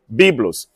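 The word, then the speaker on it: βίβλος: inteiro também chamava-se biblos apenas tem uma letrinha de diferença na hora de escrever Bíblia os em grego para se referir a planta ou para se referir ao Porto mas a pronúncia é biblos então os egípcios produziam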